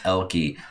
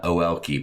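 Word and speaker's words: Oelke: Make sure if you ever talk to Amy and you say her last name, remember the O is silent. It's Elke, not O-Elke, please.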